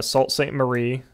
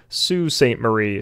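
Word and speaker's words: Sault Ste. Marie: michigan up to uh salt saint marie hey y'all this is editor alex i am editing this podcast right now and i have since realized that it is actually pronounced sue saint marie so i'm gonna mispronounce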